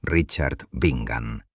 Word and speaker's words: Richard Bingham: El más despiadado de todos fue Sir Richard Bingham, pronunciado Richard Bingan, un militar fanático que odiaba profundamente las costumbres gaélicas y despreciaba aún más la insolencia de Grace.